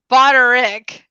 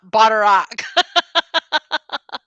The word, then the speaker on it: Butterick: said name wrong it's butterick not butter rock brought a broader rick